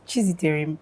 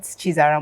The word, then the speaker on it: Chiziterem: But it's Chiziterem, not Chiziterem. Or they'll say one kind pronunciation I don't understand. Because it's Chiziterem. You say Chiziterem.